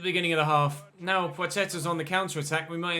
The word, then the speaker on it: Płacheta: And the L with a slash through it is pronounced as if it were a W. So it's Płacheta.